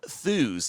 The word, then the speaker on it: Thews: Also, Mark Thews, and I had to find out exactly how to say his name. I found out rhyme with shoes.